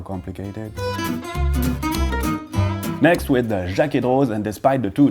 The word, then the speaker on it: Jaquet-Droz: Pierre Jaeger-Rose, and yes, well, you don't really pronounce the Z, it's kind of up to you. Jaeger-Rose, Jaeger-Rose.